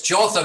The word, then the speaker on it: Jotham: It's Jotham. It's like Gotham with a J, you know. Instead of Batman, we've got the King of Judah. Jotham, king of Judah, began to reign.